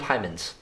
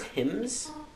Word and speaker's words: hymns: the book multiple times it's a book of hymens interesting actually pronounce hymns I love that service